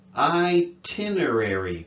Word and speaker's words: itinerary: illustrate illuminate itinerary anticipate notice this one i tin itinerary both the sounds are right there we didn't anticipate that